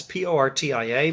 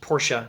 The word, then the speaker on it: Portia: belmont to woo porsche that's p-o-r-t-i-a but uh the way i hear pronounced at least porsche not portia anyway pronounce it how